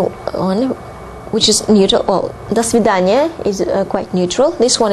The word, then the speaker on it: до свидания: Now, saying goodbye in Russian would be до свидания. До свидания. До свидания. Although there are two words here, you pronounce it as one word.